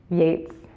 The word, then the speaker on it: Yeats: enjoy wait he's great Yeats was great enjoy it's late not eat cool hey rhymes with gates I love me some